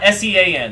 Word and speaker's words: Sean: the WBC Crown but is it Sean or Sean is Sean s-e-a-n The Irish way not the American way thank you Champion for